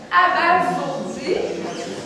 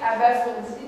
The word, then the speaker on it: abasourdi: Abasourdi. Donc, le S prononce S parce qu'il est en deux voyelles. On a souvent tendance à entendre abasourdi. Mais Étienne a bien prononcé abasourdi, donc c'est un S.